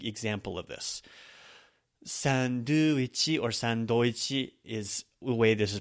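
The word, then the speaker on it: サンドイッチ: Sandwich or sandoichi is the way this is pronounced.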